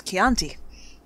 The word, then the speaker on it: Chianti: It's Chianti. Well, damn Anthony Hopkins not knowing how to pronounce stuff.